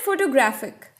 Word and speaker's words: photograph: always the same syllable in the word photograph there are three syllables and the first one is stressed in this case photograph in the word photographer